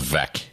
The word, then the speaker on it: Veek: of the vectors was Veek. I think it's Veek 5, and I think it takes you over the ballpark there. It's pronounced Vec. I know, but it's spelled Veek.